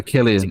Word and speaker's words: Cillian: No, Killian. I've done Killian? it before. It's not I've done it Cillian? before. I thought it Yeah, was Cillian. No, It's it's Killian.